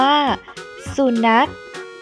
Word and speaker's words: สุนัข: ค่ะ เด็ก ๆ คำ นี้ ออก เสียง ว่า สุนัข 2 อุสุ หอ นอ อะ ขอ นัด สุนัข